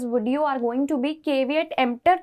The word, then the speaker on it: caveat emptor: caveat emptor इसका pronunciation है और इस मैक्सिम का मतलब क्या होता है अब ये जानने की कोशिश करते हैं.